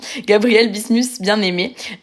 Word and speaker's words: Gabriel Bismuth-Bienaimé: donc Gabriel bismus attendez je vous dis le le bon nom avec ma ma bonne prononciation Gabriel bismus Bienaimé sachant que le livre